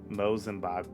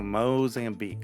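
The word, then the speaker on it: Mozambique: crowds in Mutu during a pastorial visit to mosm martisius and Madagascar that's pretty good that's pretty good pretty sure it's pronounced moami oh moam Beek okay got it oh the the the walkouts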